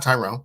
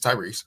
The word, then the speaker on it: Tyrese: Don't say his name wrong. It's not Tyrone. It's Tyrese.